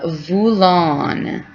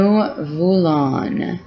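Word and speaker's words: voulons: the plural side new vulon new vulon so you don't say the s that means we want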